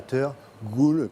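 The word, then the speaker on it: teurgoule: you make this traditional dessert that's hard to pronounce. It's called a tergoule.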